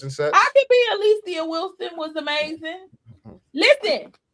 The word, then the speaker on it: Alicia: The way that I get most people who are our age to or older to say my name is because I say Alicia Silverstone from Clueless. Oh, Alicia.